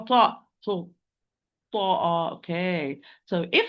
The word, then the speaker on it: ط: But ta, it is the only مفخم letter, it's the only heavy letter. So the back of the tongue must be raised when I pronounce the ta.